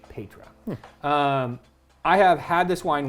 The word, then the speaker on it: Paetra: So this wine is called Petra. I had to look that up because it's spelled a little interestingly. P-A-E-T-R-A, Petra.